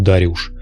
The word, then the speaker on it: Дариуш: Кир, или, точнее, Куруш, как и Дариус — или, вернее, его имя правильнее произносить как Дариуш — предложил бы в ответ ту же самую формулу.